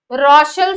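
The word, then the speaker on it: Rochelle: का सॉल्ट होता है रोशल सॉल्ट बोलते हैं स्पेलिंग में सीच आता कि गया रोशल सॉल्ट बोलते ये क्या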